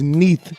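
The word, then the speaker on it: Neith: here is the goddess beneath her name is Neath and that's spelled n-e-i-t-h this is just another form of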